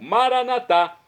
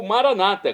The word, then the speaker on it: Maranatá: E agora eu clamo do aramaico Maranatá, como dizemos nós católicos, ou Maranata, como dizem nossos irmãos separados, os evangélicos ou protestantes. Não importa a pronúncia, o significado é o mesmo.